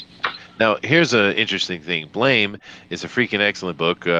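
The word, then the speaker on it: BLAME!: Westerners always say blame, blame, blame because that's how they spell it. But that's actually a misspelling by the creator, thinking that's what the sound of a gun going off is. Blam, blam, blam.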